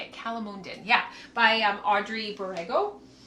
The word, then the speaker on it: calamondin: Calamonden.